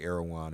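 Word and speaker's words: Erdoğan: issue was something that I always say erigon I'm pronouncing it wrong I know what that he was I don't know I get it confused too yeah now said it nice last well I've heard both okay I think aroan is right but me I forgive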